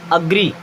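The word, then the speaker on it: agree: Then अब इसे आपने कई बार एग्री पढ़ा होगा, क्या पढ़े होंगे, एग्री, बट ये होता क्या एक्चुअल में, अग्री। क्या होता है, अग्री, एंड अग्री मीन्स होता है सहमत होना, ठीक है।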